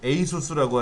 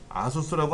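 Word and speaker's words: ASUS: 여기 보니까는 노트북 제조 회사가 에이서, 에이수스라고 하죠. 아수스라고 안 하고 에이수스라고 하는데 그냥 우리 발음으로 아수스라고 한 것 같아요.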